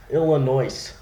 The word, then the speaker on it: Illinois: Illinois Illinois yeah the S is silent but